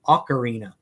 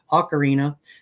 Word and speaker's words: ocarina: is an ocarina and ocarina i guess is the correct pronunciation ocarina and that's referred to as